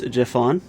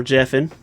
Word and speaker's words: Jephon: you don't know me my name is jeffon or Jeff in depends on how you want to pronounce it I am the server